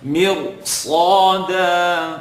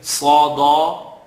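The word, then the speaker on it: ص: Sada, totally wrong. Sada, you're not pronouncing it with it, giving it its right. So Sad is heavy, second part of the tongue. Slaw, dal, tip of the tongue behind the top two teeth. Da, Sad.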